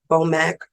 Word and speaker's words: BOMAC: BOMAC, 2 syllables, very simple.